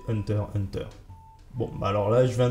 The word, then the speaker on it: Hunter x Hunter: la première comment prononcer hunters hunter bon alors là je viens de le prononcer comme il le faut normalement on ne prononce pas le x mais c'est pas hyper